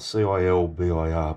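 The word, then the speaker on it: Çılbır: It's spelled C-I-L-B-I-R, but I think it's Cilbir.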